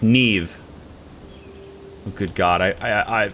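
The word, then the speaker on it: Niamh: my brother's new girlfriend is named name it's pronounced neve n n-i-a-h-m pronounced neve oh good god i i i have no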